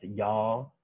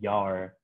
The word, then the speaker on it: Yao: They call themselves Yao, or more localized pronunciation is Yar.